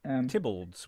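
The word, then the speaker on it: Theobalds: in progressed the fuels is how we pronounce it tibbles wasn't it thank you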